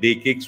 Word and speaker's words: DE-CIX: so it's called Uh day kcks with a whether it is written like C but pronounced with the K so it is the